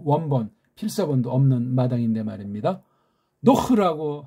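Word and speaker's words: נח: 노흐라고 하면은 가장 좋고, 걔네들 하면 아는 조그만 소리를 빨랑 살짝. 노에서 흐 발음이 힘드니까 요거 하나 넣은 거예요.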